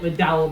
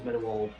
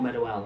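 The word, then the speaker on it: Meadowhall: at HMV McDowell, and I will call it McDowell because that's what it says on my girlfriend's sat-nav, but the actual correct pronunciation is Meadowall or Meadowell.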